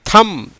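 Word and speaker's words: thumb: எப்படி? தம். நாட் தம்ப், இல்லை தம்.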